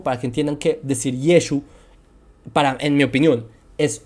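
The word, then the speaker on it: ישוע: personas de la Galilea Entonces lo más Sensato Es realmente pensar que se decía yeshua o yeshua y no así lo pronunciaban Entonces como Jesús pronunciaba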